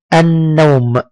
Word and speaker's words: النوم: ثانيا أنها جاءت بعدها لام مشددة تنطق وكأننا ننطقها مرتين، اللون. مثلا كلمة النوم، النوم، الطويل.